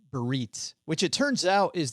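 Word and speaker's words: Biarritz: It's Beritz. So, that's probably two different places. Barits. Bits. Yes. It looks like Baritz, but my daughter uh changed my mind by pronouncing it uh several times, but we're staying at this really nice hotel.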